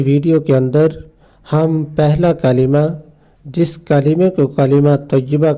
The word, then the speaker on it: کلمہ: اور آج کی ویڈیو کے اندر ہم پہلا کلمہ، جس کلمے کو کلمہ طیبہ کہا جاتا ہے،